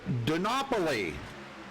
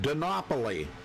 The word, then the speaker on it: Donopoli: Sarah Donopoli. Now, I know I said it right that time. I was corrected on it last night. Donopoli.